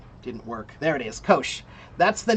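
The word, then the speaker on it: Kocs: Kosh.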